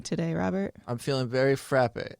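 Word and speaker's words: frappé: That's not how you pronounce it. It's I know. frappe. Frappe. With a little line over the E, I think.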